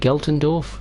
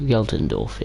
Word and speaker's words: Geltendorf: sunshine yeah is that how you say it galtendorf geltendorf yeah for once that's a german word i can't pronounce correctly i can pronounce it correctly uh